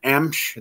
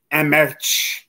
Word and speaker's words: Emch: People just kind of kill that last name. Emch. They add vowels and words like they think they're going to correct how it's said. So it's just pronounced Emch, E-M-C-H.